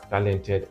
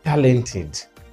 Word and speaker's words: talented: be bensin is less talented and by the way please remember that this is not talented but look at it talented with the stress on the first syllable talented we treated this